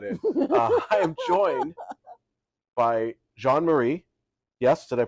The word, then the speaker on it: Jean Marie: GNA leave that in I am joined by John Marie yes did I pronounce it correctly yes you did uh please